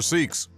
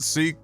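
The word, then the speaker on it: Sikh: Did we Did we pronounce it sick here? Because in English sick sick sounds like sick. Is that how we got here? Because my whole life even the people that themselves were said seek.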